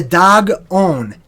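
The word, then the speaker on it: Dagon: also known as the dag own a number own Oh in in ancient languages means of thee right so the dog own da G is pronounced just like the animal dog okay aaaghh the dog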